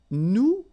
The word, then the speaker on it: nous: Okay, and then for nous, it will be, so if you remember correctly, so final S is not pronounced here.